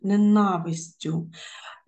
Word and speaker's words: ненавистю: правильно наголошено наскрізним правильно у слові ненавистю ми бути наголошеним правильно другий склад ненавистю і у слові літопис